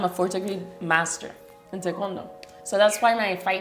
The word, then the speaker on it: taekwondo: Tekondo. Yeah, cuz I say taekwondo.